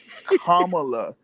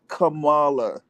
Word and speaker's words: Kamala: more convincing campaign than Kamala Harris. Did I just say that out loud? Kamala, yeah, Kamala. Not folks. Hopefully, folks can get this right. It's Kamala, not Kamala. Okay? Not the Ugandan giant.